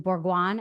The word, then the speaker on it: Bourgoin: Can you just tell us a little bit about how you came upon Stephen Bourgoin? Am I pronouncing his name right?